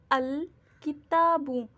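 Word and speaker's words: الكتاب: Moon letters में से अगर अलिफ लाम को ऐड किया है और मून लेटर्स हैं तो वहाँ पे लाम को प्रोनाउंस करेंगे जैसे किताबुन, अल किताबु। इसमें लाम का जो साउंड है अल, ल, ये बिल्कुल क्लियर है।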